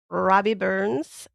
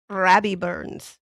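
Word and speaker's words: Rabbie Burns: So, this is Robbie Burns or Robert Burns or wait, I didn't say it right. Okay, I got to I got to pull out my inner Scott here. Rabby Burns.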